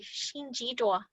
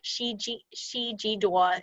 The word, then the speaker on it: xin ji duo: So I wrote it as, I think it's called romanization. Correct me if I'm wrong, you linguistics people out there. Shi ji duo, but it's xin ji duo if you want to pronounce it very clearly.